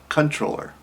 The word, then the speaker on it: comptroller: now this is spelled c-o-m-p-t-r-o-l-l-e-r so you would think it's comptroller it's annoying because it is actually pronounced as controller well i don't use